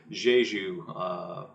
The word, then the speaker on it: Jeju: place in South Korea on the island of Jeju, I believe is how you pronounce it, in 1948 through 1950, in which